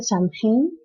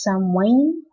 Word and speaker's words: Samhain: pronuncia y parece que en varios lugares se pronuncia Samhain, pero creo que en Irlanda la M y la H hacen una U, entonces es Samhain, no sé, cosas raras, Samhain, como sea.